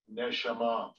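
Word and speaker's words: נְשָׁמָה: So let's see how they pronounce this one. Strong's 8, 5307. Neshama.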